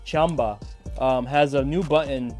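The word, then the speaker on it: Qanba: if you guys know I'm sorry chamba right that's how we're supposed to pronounce it the proper way chamba um has a new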